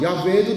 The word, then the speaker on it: 야훼: 요드 이게 다 자음이거든요. 그러니까 이게 읽을 때 여호와도 될 수 있고 야훼도 될 수 있단 말이에요. 근데 여호와로 읽었어요. 왜? 어차피 하나님의 이름은 발음하면 안 되니까 다 아도나이라고 바꿔서 읽다 보니까 하나님의 이름이 갑자기 잊어버려진 거야. 도대체 어떤 이름인지 몰라. 그래가지고 아도나이의 모음을 가져다가 히브리 자음에 붙여가지고 여호와라는 게 탄생이 됐어요.